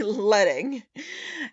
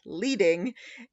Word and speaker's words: leading: pronounced letting and not leading is that they actually used to use at the printers lead to force the space in between the lines that you're seeing so